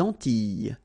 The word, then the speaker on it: Antilles: So here it's quite interesting because, well, you've got this E and then double L, S. Okay? So final S and E, really you don't pronounce them. So you get this E sound.